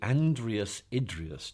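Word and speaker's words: Andreas Idreos: um I you'll have to help me to pronounce the actual name of the chair that you currently occupy it's the Andreas idas chair of Science and religion do now Andreas idrus was um the man who endowed this chair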